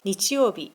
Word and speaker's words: 日曜日: 曜日の時は日曜日と読みます。